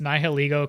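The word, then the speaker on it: Nihilego: we're being told it's nil egoo cuz it's nil and ego okay I remember reading that nil niil nil I always pronounce this niilo Oh I thought was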